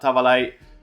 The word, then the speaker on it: Tavallaey: I'm joined today by Italian football expert and host of the Italian football podcast, Nima Tavallaey. Nima, thank you very much for joining us. I hope I pronounced your last name properly there.